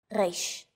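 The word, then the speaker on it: ריש: Three of these letters are pronounced deep in the throat.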